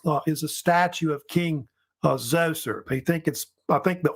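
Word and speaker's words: Djoser: And there's King, pronounced Zoser, how they say it's spelled different ways.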